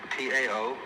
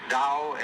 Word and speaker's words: Tao: is called the dao tao pronounced dao in the mandarin dialect tao in the shanghai